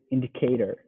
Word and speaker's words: indicator: one i would say indicator okay you want to emphasize the first syllable indicator indicator good in